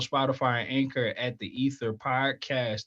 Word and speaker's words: Either: You can find me every Sunday on Apple, Spotify, and Anchor at the Ether Podcast. That is EITHER. We didn't spell it wrong. The I is silent.